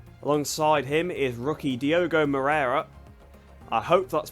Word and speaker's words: Moreira: Alongside him is rookie Diogo Moreira. I hope that's pronounced correctly. I've taken Moreira to be pronounced the same way Oliveira is pronounced because he's Brazilian and they speak Portuguese, so I hope that's